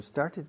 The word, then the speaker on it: started: No se añade una sílaba. Con started, sí. Every day I start, una sílaba, start. Yesterday I started, started, started. La T en medio es trampolín para started.